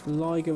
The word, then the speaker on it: Liger: I think we might go to Liger Rhymes with Tiger today.